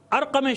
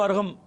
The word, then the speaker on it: ارقم: آئیے, جب یہ ارقم شامی کو, جس کو ارغم اور بعض لوگ غین سے لکھ بھی دیتے ہیں کیونکہ تلفظ کیا, جب سنا ارغم تو نہیں, ارغم شامی لکھنا شروع کر دیا, نہیں ارقم نام ہے.